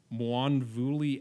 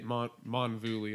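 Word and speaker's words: Mwonvuli: I think that's right I just say it m manvi I don't even try and pronounce the W to be honest with you but you know I'm I'm sure you're the one saying it right here there is a w in the word uh so so it's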